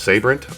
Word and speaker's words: Sabrent: Now for my storage, I believe it's pronounced Sabrent.